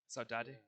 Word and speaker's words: Saudade: Is that how it's pronounced? Saudade.